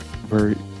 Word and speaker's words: Virgilio: It's pronounced Virgilio.